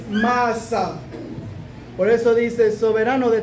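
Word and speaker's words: מעשה: Se dice maasad. Masa se escribe con una mem, una ain, una shin, una y una ba. Así dice masa.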